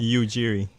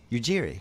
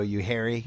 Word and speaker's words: Ujiri: I wasn't right and what is the exact pronunciation Ujiri Ujiri yes you got it right yeah some people go you Harry yeah all kinds of stuff with my name